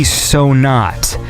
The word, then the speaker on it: Sonaht: Migration 2019 album, and it's called, I hope I'm pronouncing this word correctly, Sonat. That is SONAHT. So I'm going to say that is Sonat by FIXIONS.